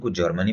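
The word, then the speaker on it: Tsar: USSR রাজা থিলা জার টিরে লেখা যায় কিন্তু উচ্চারণ করা যায় জার নেপোলিয়ন এটি নেপোলিয়ন নেপোলিয়ন এবং জারিটি সাইন সাইড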